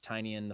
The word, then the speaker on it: Tynion: I mean, because Tynion's great. I was just told that we've been saying James Tynion. It's pronounced Tynion, apparently.